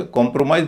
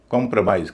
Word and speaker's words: compromise: है तो इसमें भी पहले और तीसरे पर स्ट्रेस होगा बीच पर नहीं होगा तो इसे कॉम्प्रोमाइज नहीं कहेंगे कॉम्प्रोमाइज कॉम्प्रोमाइज बीच वाला हिस्सा हल्का कब बोला जाएगा?